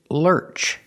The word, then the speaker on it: lurch: in the Lurch pronunciation Lurch use the r sound like Burger Lurch in the Lurch